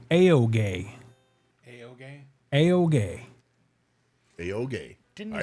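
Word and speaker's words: Juha: And he kind of laughed and he was like, it's Aoge. The Finnish way to pronounce my name is Aoge. He's like, but Americans say.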